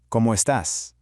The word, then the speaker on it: cómo estás: Spanish, ¿cómo estás? Notice the accent on the A, giving it just a slight emphasis.